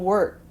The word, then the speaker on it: work: 실제 발음은 이 뒤에 나와 있는 K가 크에 해당되는 발음이 아닙니다. 이렇게 남겨둔 이유는 흐릿하게 남아있는 발음으로 해달라는 의미예요. 그래서 go to work, go to work 이렇게 크라고 정확하게 하는 것이 아니라 흐릿하게 남아있는 발음으로 해주시면 되고요.